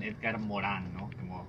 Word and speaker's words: Edgar Morin: de nombre edgar morin o si nos queremos poner apropiados con la pronunciación iker morán es de origen francés